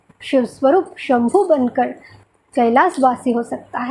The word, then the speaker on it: कैलाश: देखिए, हम अधिकतर लोग कैलाश को कैलाश कहते हैं, लेकिन असली जो वैदिक उच्चारण है वो है कैलाश, मतलब केवल आनंद, जिसमें जैसे उल्लास, विलास, वैसे कैलाश, जहाँ केवल आनंद, उल्लास।